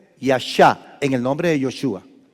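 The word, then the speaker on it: ישע: significa eso de yeshua el verbo yasha significa salvar vean la perfección de Dios Otra vez vuelvo a decir en yeshua el verbo yasha que se escribe y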